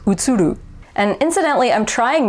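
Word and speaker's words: 映る: utsuru to reflect um so utsuru would be the japanese way of pronouncing it would be utsuru would be the american english way of pronouncing it utsudu versus utsuru and incidentally i'm trying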